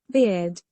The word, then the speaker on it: beard: students get confused with the last one. because they pronounce like a beer, but beer and bird some totally completely different.